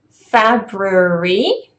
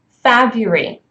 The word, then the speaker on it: February: to the next one February is supposed to be the the correct kind of pronunciation but what you would hear very often is fab Yuri for example we are